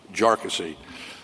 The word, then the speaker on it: Jarkesy: for these claims and by the way it's pronounced jassy uh not not a number of other ways that that it's been pronounced by by many um the the bottom